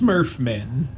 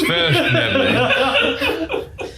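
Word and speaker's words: svirfneblin: I think it's pronounced Smurfmen. No, you're getting cooler now. It's Sverfnebling.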